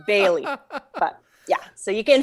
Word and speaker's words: Bailly: It is a French spelling. So I think back in the day it would be pronounced Bailly, but I just pronounce it Bailey.